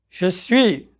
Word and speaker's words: suis: Je suis. Tu es. Il, elle, on, tout le monde est. Nous sommes. Vous êtes. Ils, elles sont. Notice that several of the letters you see are not pronounced here.